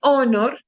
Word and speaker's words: honor: An honor, porque honor, en este caso, nuestra H es muda.